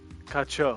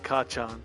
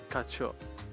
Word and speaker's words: 課長: 課長 Kacho. それなんですが I said Kachan, like it's Bakugo from MHA. What? Kacho.